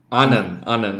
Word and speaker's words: Annan: In your last name, how do you pronounce it? Annan? Annan. Annan.